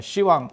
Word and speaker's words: 시왕: 그래서 시왕이라고 하는 것도 십왕이라고 하는데 발음이 그냥 해도 어렵잖아. 십왕. 그러니까 시왕 이렇게 되는 거고.